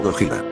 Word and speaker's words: Gojira: gotzilla se escribía como Aunque todavía se pronunciaba como gojira esta Encarnación específica de